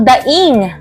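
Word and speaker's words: daíng: ang pagtaas ng bilihin Alin ang nararapat na bigkas ang ipinapahayag ng kahulugan maging ang pangungusap ito ay mayroong diing mabilis tama ito ay ang daing dahil ang daing ito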